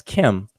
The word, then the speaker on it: km: understand that there is a word that we transliterate as km and we pronounce uh today conventionally as Kim that does mean black